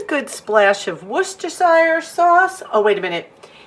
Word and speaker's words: Worcestershire: a good splash of Worcestershire sauce oh wait a minute it is worcestershire sauce never knew the pronunciation was on the label and then I'm adding